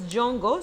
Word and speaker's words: Djongo: uh Jango okay so its name is jongo so don't uh don't